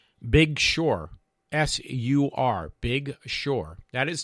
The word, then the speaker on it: Big Sur: It's spelled S-U-R, and it's pronounced Big Sur. B-I-G for the first word, and S-U-R for the second word.